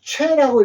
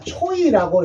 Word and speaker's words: 최: 읽으면은 최라고 읽어야 되는데 우리가 초이라고 읽는 경우가 외국인들 많습니다. 이걸 초이라고. 그래서 최씨를 초이라고 읽어요. 근데 우리는 초이라고 하면 안 되고 그냥 최라고 하는데 여기에 OI도 이것도 OE라고 해서 외자가 돼요.